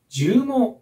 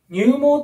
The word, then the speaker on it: 絨毛: こちらは何でしょうこれは絨毛と読みますね入門ってね呼んで間違える子もいるので